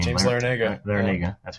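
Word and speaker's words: Larrañaga: They still have that, I don't know how to pronounce his name. James Larinaga. Larinaga, that's how you say it.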